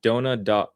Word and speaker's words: Dahna: You can't pronounce Dahna. It's pronounced like Donna.